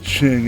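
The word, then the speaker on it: Qing: in China yeah that's the Ching Empire that's how it's pronounced Pui who's just you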